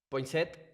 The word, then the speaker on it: Poinsett: claro, entonces, Poinsett, ¿sí se pronuncia así?